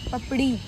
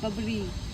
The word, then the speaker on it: पपड़ी: आई इट्स आर आई बट in Hindi we pronounce it पपड़ी पपड़ पपरी नॉट पपरी पपड़ी पपड़ पपड़ी just say चिड़िया चिड़िया चिड़िया चिड़िया don't you know the difference between ड एंड र ड ड नाउ यू